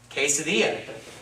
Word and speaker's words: quesadilla: it's going to be pronounced like the hard that sound just like a K not quick but just all the time so that's gonna be quesadilla you know it's not it's seasoning did you pretty much that you is not being pronounced it's not part of